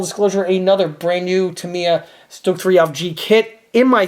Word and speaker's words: StuG: Did I just pronounce it as Stug over there? Nah, it's Stug. I always pronounce it as Stug.